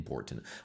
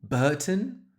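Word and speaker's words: Bourton: Pronounce that Uh, you got an R in there and I don't hear it at all.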